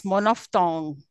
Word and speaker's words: monophthong: How should we pronounce it? Let me tell you. It's monophthong.